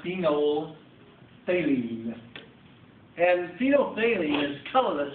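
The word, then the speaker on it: phenolphthalein: I use the indicator that middle pH is totally silent silence I meant to say that's pronounced phenol phine and phenol phine is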